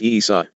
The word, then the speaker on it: Esa: I was not often called Esa and Master Esa, pronounced Isa, for the term master, in Hebrew would mean naught to you, designated youth of maleness.